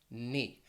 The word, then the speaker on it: knee: letters like this one knee and you might be wondering well wait why why is that k silent well pronunciation is something